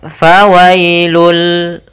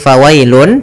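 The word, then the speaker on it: فويل: maka ketika dia masuk Bunyi n-nya hilang langsung masuk ke hurufnya yaitu bunyi lam maka fawailul bukan lagi fawailun tapi fawailul Lil musallin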